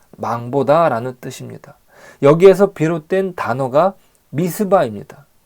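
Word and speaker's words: מצפה: 뜻입니다 여기에서 비롯된 단어가 미스바 입니다 미스바 는 원어 를 발음하면 밑이 바입니다 즉 망 보다는 뜻의 차 파 에서 비롯된 단어 이 죠 밑이 바 미스바 는 감차 라는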